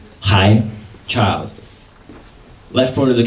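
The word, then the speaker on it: 孩: So this character as a whole means to arrive, pronounced dao, and meaning zhi, to arrive, right? Hai, child.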